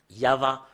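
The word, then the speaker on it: יהוה: là mais depuis là ça commence en en V euh ou VH ou va yava rien d'autre que ça Yav ça parle pas mais c'est yava qui parle et c'est ce qui est prononcé par le juif et c'est clair que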